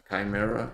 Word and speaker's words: Chimera: Chimera, apparently that's how you're supposed to pronounce it.